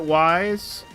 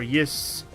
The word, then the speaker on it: Ys: I did pronounce it Ys. Like Y. I know DJ kind of joked that earlier, but that's actually how I pronounced it back in the day. And I could see how it could be pronounced like Is or Yis. But honestly, I've always... I mean, once I kind of learned to call it Ys, it's just kind of